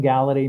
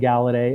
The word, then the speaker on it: Galaudet: that stuff really if you type in gala day my name it's just gonna come up it's the easiest way I mean honestly Facebook calm and gala day and my name is spelled